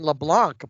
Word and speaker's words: Leblanc: And then Charles, and I've been saying LeBlanc, but I heard it's Leblanc. Oh, the C is silent, I guess.